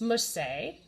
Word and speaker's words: merci: It's merci. You say it like this. Merci.